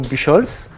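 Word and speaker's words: Buchholz: So my name is Bucholz, so I pronounce it the French way because actually I'm French.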